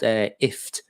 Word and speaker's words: IFTTT: know her answers properly it's called ift so press as in gift as a gift you give someone but without the the go so it's ift now if it connects